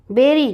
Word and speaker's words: बेरी: गाती है नंबर ग नीचे ऐसे शब्दों के जोड़े दिए गए हैं जिनके उच्चारण में कुछ अंतर है उनके अर्थ भी अलग-अलग हैं इसका सही उच्चारण करें और वाक्य बनाएं बेरी चिड़िया बेरी की झाड़